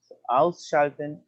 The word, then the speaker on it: Ausschalten: Se pronuncia como las palabras compuestas. ¿Se acuerdan que les dije que se pronunciaban separaditas? Se pronuncia ausschalten.